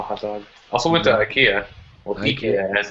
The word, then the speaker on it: IKEA: Yeah, I don't want to be a dick, but I went correct pronunciation, yeah. IKEA. My friend from Sweden was like, "No, it's IKEA," and I was like, "Shit."